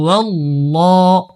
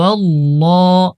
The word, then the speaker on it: আল্লাহ: খাড়া জবর লাললাহ এটা আল্লাহ শব্দের লাম মোটা করে উচ্চারণ করতে হয় হু আল্লাহ হু আল্লাহ হালাম পেশ হুল পরে